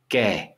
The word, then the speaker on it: και: Ke. Okay, it's pronounced ke.